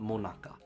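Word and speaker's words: 最中: this dessert is called monaka uh uh yes it's pronounced the same as the Monica that we all know and love all right this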